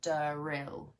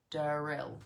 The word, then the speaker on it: D-rill: spelled dyen r i l l and it's pronounced deril deril okay so this is the name of this